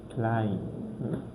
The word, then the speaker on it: Klein: So we pronounce it as I. For example, we have that word Klein. Klein.